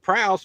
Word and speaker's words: Proust: He's like, that idiot thinks that Proust rhymes with Faust.